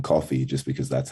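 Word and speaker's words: Kofi: i'm from ghana and we pronounce it like uh coffee with like the accent um but then when i came to australia they didn't do that so it just like turned into coffee like the drink yeah um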